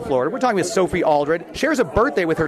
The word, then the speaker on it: Aldred: I'm sure so Sophie aldred if you're listening I apologize I realize I got your name wrong with saying Sophie Allred the whole time uh Jess nerves I